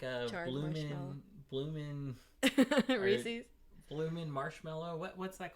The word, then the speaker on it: Reese's: It's Reese's, because it was originally founded by a man with the last name Reese, and you put an apostrophe S at the end of it. So it's pronounced Reese's.